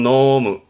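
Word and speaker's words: 濃霧: 농무라 발음은 노무, 노무.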